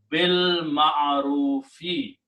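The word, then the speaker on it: بالمعروف: And when you pronounce together, you do not pronounce this alif in there. You pronounce bil ma'arufi, of what is right.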